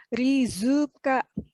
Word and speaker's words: Rizka: Nah karena ada pelafalan suku kata itu, nama saya yang tadinya Rizka, cuman R-I-Z-K-A, kalau dilafalkan dalam bahasa Jepang itu menjadi rizuka karena tidak ada Z tapi adanya zu.